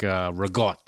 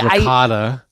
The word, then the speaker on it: ricotta: So it's just a shortened, easier slang way of saying these words, like rigot. Oh, you know, it's ricotta. I hate that. But in Italian, a lot of C pronunciations become G's.